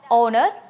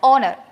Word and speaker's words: honor: As you know, we are pronouncing it as honor. And what's the spelling of honor? H-O-N-O-U-R. There, we are not pronouncing the sound H. H sound we are not pronouncing. We are just pronouncing it as honor.